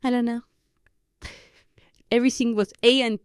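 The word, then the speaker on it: ahora: no right here um the word for now is a AA spelled h o r a means our and the H is not pronounced in Spanish so AA means our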